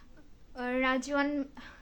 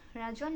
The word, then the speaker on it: রিজওয়ান: এমডি রাজওয়ান, রাজওয়ান না রিজওয়ান, রিজওয়ান, রিজওয়ানই তো নাম হয়, কিন্তু রাজওয়ান উচ্চারণ হচ্ছে।